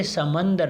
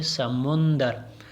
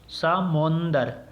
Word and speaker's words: سمندر: وہ میم میں ہے۔ میم پہ بھی ہم عموماً زبر لگا لیتے ہیں، جبکہ یہ کیا ہے، یہ پیش کے ساتھ ہے، یعنی یہ سمندر نہیں ہے بلکہ اصل کلمہ جو ہے، یہ اصل تلفظ یا اصل املا جو ہے اس کی وہ ہے سمندر، یعنی میم کے اوپر جو ہے وہ پیش ہے، سمندر۔ یہ تھی آج کی